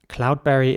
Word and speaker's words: cloudberry: Cloudberry is spelled C-L-O-U-D-B-E-R-R-Y.